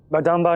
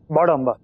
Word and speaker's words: बड़म्बा: सर, बदाम्बा नहीं, बड़म्बा। एक आधा हिंदुस्तानी है, सही प्रोनाउंस कर सकता है।